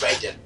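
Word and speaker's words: Raiden: home the person you're playing as yes it's raen that's how you say it okay although although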